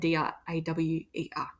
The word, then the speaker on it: drawer: them wrong Diaw and d-r-a-w-e-r so the furniture always has ER and you know the Artist as well but we're not focusing on that and the pronunciation is actually different drawer um so this